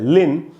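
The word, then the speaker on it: Lynn: का नाम होता है लिन। तो इसमें एक ही सिलेबल है और पहले ही सिलेबल में वाई है, इसलिए इसको यहाँ पर ई पढ़ा गया।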